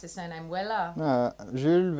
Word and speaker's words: Weiller: How do we pronounce his surname? Weller? Jules Weiller.